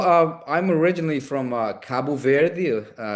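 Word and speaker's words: Cabo Verde: Uh well um I'm originally from uh Kabu Ver country on the west coast of Africa and US you guys say Cape Verde. So even though the name is very similar to uh Spanish but the the pronunciate pronunciation there is is different.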